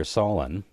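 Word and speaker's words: Solon: prostitution the Athenian lawmaker Solen or Solen to rhyme with colon uh regulated prices in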